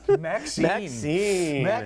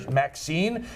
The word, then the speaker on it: Maxxxine: And now is the third one in the trilogy, where Maxxxine, spelled with 3 X's, for those of us